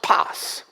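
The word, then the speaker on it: πᾶς: in the Greek languages its paws cz pronounced Paz it's like almost you pass it's so insignificant you just pass it but no but rather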